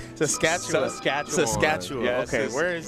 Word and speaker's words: Saskatchewan: Where is Saskatchewan? How do you say Saskatchewan?